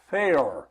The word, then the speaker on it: Faour: We have the manager out there, Fair. That's right. That's f a r. You got it. And I have I pronounced it right. You did. Like mayor but fair.